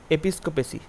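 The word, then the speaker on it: episcopacy: mainly গির্জাতে হয় গির্জা ঠিক আছে গির্জা শাসন এপিসকোপেসি এপিস্কোপেসি এইটা উচ্চারণটা হবে এপিসকোপেসি আচ্ছা ডি এর দাগে এখানে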